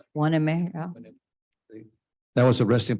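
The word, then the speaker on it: Hueneme: Waneme, Port Waneme? Waneme. Yeah. Is that the way you pronounce it? Waneme, yeah.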